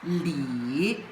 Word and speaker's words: 里: And it pronounced as Lee.